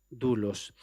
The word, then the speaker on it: doulos: La palabra es doulos, aunque se escribe doulos, pero se pronuncia doulos.